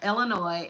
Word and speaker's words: Illinois: We know the S is silent. Yeah, Illinois, and it's not Michigan.